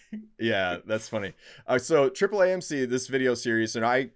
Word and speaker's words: AAAMC: Is that how you say it? AAA? Triple AMC. Yeah, we love Triple AMC.